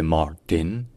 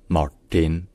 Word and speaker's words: Martin: et E de car ensuite le RT dans son prénom est prononcé en fait plutôt comme un T qui est rallongé qui est un peu plus retenu et qui surtout qui rétroflexe c'estàdire avec la pointe de la langue qui est vers le haut donc ce n'est pas c'est plutôt voilà avec un T rétro Flex donc c'est Martin ensuite